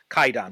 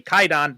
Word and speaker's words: Kwaidan: with so but in modern pronunciation it's actually pronounced kaidon without the W so if anyone's confused about